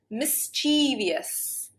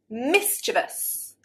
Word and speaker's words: mischievous: Mischievious. No. Mischievous. Better. Now, I think this has kind of developed so that mischievous is an accepted form of pronunciation. However, the original pronunciation should be 3 syllables.